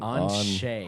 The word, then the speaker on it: Anshe: Anshe. Hold on. On. Like the letter, like on, like O-N, like on, and then shea, like shea butter.